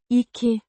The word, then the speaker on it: ikke: Pronounced. ikke, With a soft k, sound.